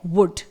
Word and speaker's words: would: वर्ड है वुड, WOULD। अगला वर्ड है कुड, COULD, यहां पर भी D से पहले ही L आया हुआ है इसलिए इन्हें हम प्रोनाउंस नहीं कर रहे हैं यानी L लेटर को।